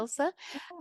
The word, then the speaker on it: Ilze: Ilse? Is the Latvian pronunciation, I believe.